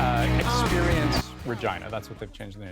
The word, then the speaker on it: Regina: all be adults here Regina rhymes with vagina and it's not like